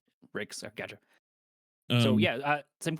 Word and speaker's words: Ryx: It's Rex, right? yeah, you got it. Rex.